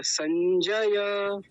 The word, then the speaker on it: संजय: ऐसे लिखा जाता था ये संस्कृत में ऐसे लिखते हैं हिंदी में ऐसे लिखते हैं जैसे नीचे लिखा है बोला एक ही जाएगा संजय अच्छा हमारे घर में यदि किसी का नाम संजय हो हम उसको पता